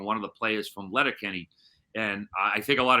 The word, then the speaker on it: Letterkenny: If you're familiar with the show Letterkenny on Hulu, I got it's one of the few times I pronounce my R when I say Letterkenny.